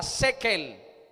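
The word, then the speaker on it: שקל: En hebreo se pronuncia shekel, que es la moneda oficial.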